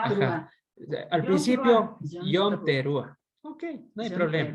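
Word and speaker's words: Yom Teruah: Yom Teruá.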